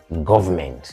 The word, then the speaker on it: government: it is Tri syllabic it has three syllables government government please take